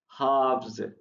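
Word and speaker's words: halves: बता देता हूँ कि इसमें जो है एल साइलेंट है, हाफ्स, बस ये चीजें में रखनी।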